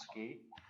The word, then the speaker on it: SCI: who don't know us our acronym is sci which we pronounce ski so we're the ski